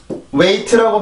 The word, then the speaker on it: wait: 이렇게 되고 우리나라 말로 쓰면 wait라고 발음을 하죠.